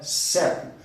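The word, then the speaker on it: ceco: Ah, mas não é seco? Não tem nenhum acento? Não, a pronúncia é seco.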